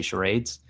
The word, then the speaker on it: charades: Much like charades, however you want to pronounce it, I say charades.